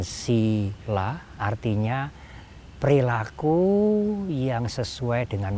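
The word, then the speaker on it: sīla: Hanya sinya panjang ditulis dengan strip di atas, diucapkan sila, artinya perilaku yang sesuai dengan moralitas atau perilaku baik.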